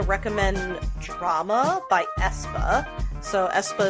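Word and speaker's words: aespa: Drama by Esa so Esa is spelled a e p a i don't know if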